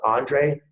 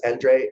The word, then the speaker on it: Andre: And I couldn't be more happy to introduce Andre, and it's pronounced Andre if you're in the US, Andre if you're in Europe. So either way it works.